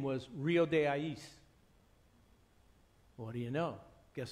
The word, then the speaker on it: Ais: one pronunciation I so some people say eyes ice I there's a whole whole bunch of stuff I say AIS because I know what the original writing was the Indian River